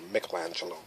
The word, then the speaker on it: Michelangelo: I like those like Michelangelo or Michelangelo is the correct pronunciation of his name but Leonardo da Vinci